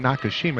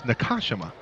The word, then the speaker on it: Nakashima: I've been saying Nakashima, it's Nakashima. For Merced, Sullivan comes free, wide open three in transition off the mark.